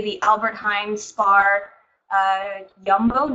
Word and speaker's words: Jumbo: the Albert Heijn spar yumbo not jumbo I always still say it wrong and you have I